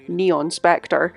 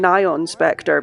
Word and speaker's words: Nyan Spectre: I've heard some people pronounce that name Neon Spectre. I'm saying Nyan Spectre because it's spelt like Nyon, which is like the word nylon without the L.